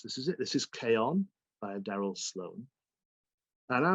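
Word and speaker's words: Chion: self publishing he'd uh written a book called k on which is spelled c-h-i-o-n so it's it's spelt chi on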